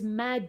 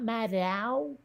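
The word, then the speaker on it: Maddow: heard her pronounce it it's mad not madow oh okay okay yeah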